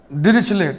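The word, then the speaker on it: Dirichlet: इसका प्रोनाउंसिएशन ऐसा है, डिरिचले, ट साइलेंट रहेगा, डिरिचले, डिरिचले।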